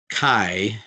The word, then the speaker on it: chi: Chi, it rhymes with sky.